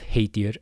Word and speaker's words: heitir: And we have heitir again ei makes the a sound.